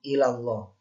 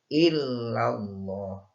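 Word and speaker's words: إلا الله: Pelafalan illallahnya banyak yang ilallah. Jadi harusnya ini illallah.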